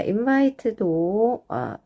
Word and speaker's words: invite: 자, 여기서 요것도 이제 여기서 이렇게 자르시면 되겠어요. 그래서 in 이 두 개 합해서 in. 그다음에 끝에 매직이 있으니까 i가 이 소리 그래서 bite. 끝에 있는 이는 소리 안 난다.